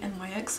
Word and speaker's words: NYX: the next one but I don't know if it's Nick's or NYX but when I went to live in everyone sing NYX I think that's why how you say it so anyways I'll skip